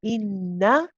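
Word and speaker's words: إِنَّ: And if you get used to saying that, inna, inna, you know that's, you become familiar with that sound of the na and know that you've got to pronounce that same one.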